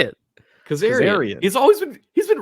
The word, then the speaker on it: Kazarian: but also what how do you say it Kazar he's always been he's been wrestling for 25 years you don't know his name what did I say Kazarian Kazarian yeah that's what I said that's that's